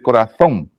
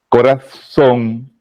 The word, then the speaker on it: corazón: si no le enseñas corazón se escribe con Z la z es una fonéticamente hablando es interdental dentro de su clasificación pero el nicaragüense no hace ese tipo de sonido por eso yo me río